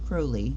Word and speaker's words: Crowley: did find out that he pronounces his name Crowley pronounced crowly because it rhymes with holy such a CL okay